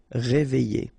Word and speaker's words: réveillé: Okay, I-double-L-Y. Réveillé.